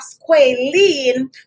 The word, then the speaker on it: squalene: of the a and you also have squalene which is pronounced like that because of the e the fact that there's